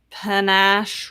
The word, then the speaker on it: panache: Panache rhymes with stash.